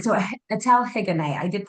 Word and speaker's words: Etelle Higonnet: It's a weird French name where, we drop the H at the beginning of words and we drop the T at the end of words.